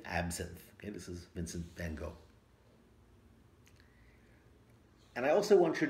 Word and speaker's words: van Gogh: effect of absinthe on Vincent van Gogh, or Van Gogh, if you want to say his name properly.